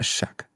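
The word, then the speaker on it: Shough: Uh spelled S H O U G H. Uh Shuck.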